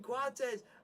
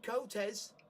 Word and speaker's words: Coates: It's Sebastian Coates, not Sebastian Cotes. Yeah. His name's Coates, not Cotes. Thank you. That's just a very bad English pronunciation.